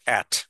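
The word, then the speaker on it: ate: তাহলে ইটের past form হচ্ছে অ্যাট, আমি খেয়েছিলাম, তাই না? তাহলে আই অ্যাট। এটা অনেকে এইট বলে, তো এইটও কারেক্ট, কারণ এইটটা হলো আমেরিকান আর অ্যাটটা হচ্ছে ব্রিটিশ উচ্চারণ, হ্যাঁ।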